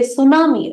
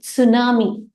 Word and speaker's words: tsunami: right we say tsunami actually in English the t is a silent we say tsunami right but it is a Japanese word whereby you will pronounce it with tsunami with the T that